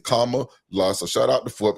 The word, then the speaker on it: Kamala: So now I know Kama. Yep, that's exactly how he explained it. Kama La.